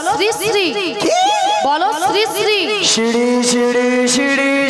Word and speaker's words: শ্রী শ্রী: আরে মাসি ওনার নাম ছিরি ছিরি না, বলো শ্রী শ্রী, বলো শ্রী শ্রী।